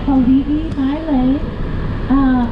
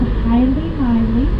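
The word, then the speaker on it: Haliimaile: So, we are currently in the little town of Hawaii, Maui, often mispronounced and called Haile Maui.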